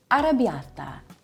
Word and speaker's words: arrabbiata: Arrabbiata, which means angry or spicy.